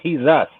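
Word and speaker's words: Jesús: forget, if you say Jesus, pronounce it in the Spanish way and just think a little bit. It's he's us. He's He's us.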